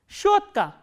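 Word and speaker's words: щётка: Shotka.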